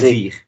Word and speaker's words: désir: If you can try pronouncing this. Lo, Yeah, lo, uh, this, this, uh, desig, désir. Le desig. désir.